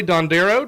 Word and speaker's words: DonDero: Uh Kelly Dandereo, did I say it right?